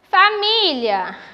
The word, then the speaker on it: família: Família, eu chamo pela palavra família. A sílaba acentuada é a sílaba mi, a vogal i.